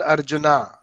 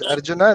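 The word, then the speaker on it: अर्जुन: written like that arjuna so westerner says arjuna that's fine we should say arjun krishna arjun okay all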